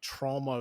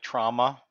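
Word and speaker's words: Troma: I think I think they wanted to be pronounced like trauma, but they also say trauma, and I think trauma is the actual name.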